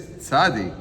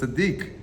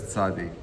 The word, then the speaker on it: Tzadi: But it is commonly referred to as Tzaddik. According to this pronunciation, may have developed from the blending of the names of the two Hebrew letters, Tzadi and Kuf.